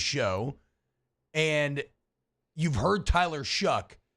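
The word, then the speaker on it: Shough: you've heard Tyler Shuck, you would never guess his name is spelled sh H o u g h. G. I would just say show either or show. Tough and rough. I would think shuff.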